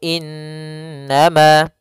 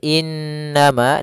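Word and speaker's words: إِنَّمَا: Kemudian pelafal innama, di sini ada bacaan gunnah, yaitu in. Nah, cara membacanya yaitu ditahan dulu surah an-nya 2 harokat. Innama. Nah, ditahan seperti itu.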